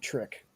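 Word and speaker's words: Tryk: It's another class of vampire called a trick. T R Y K. So I just pronounced it trick.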